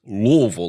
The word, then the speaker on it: Louisville: first cultural artifact is Louisville which apparently is how you say it Louisville like you got a mouthful of marbles I would I'd never